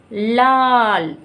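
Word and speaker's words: लाल: இது வந்து ல, பட் இந்த வேர்டு முடியும் போது நம்ம எப்படி சொல்லுவோம், மெய்யெழுத்து உச்சரிப்பில் சொல்லுவோம். ஸோ லால், லால், லா இல், இது ரெண்டும் சேர்ந்து ஒரு லெட்டர், லா இல், லால்.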